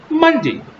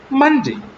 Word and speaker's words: Monday: For example, Monday. We all pronounce it as Monday. But while you're pronouncing this word in exact pronunciation, Monday, Monday, not Monday, not day, Monday.